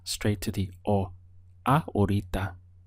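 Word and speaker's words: ahorita: second it changes to our Rita our Rita the H is silent so the pronunciation skips from the are straight to the or uh aurita how would you say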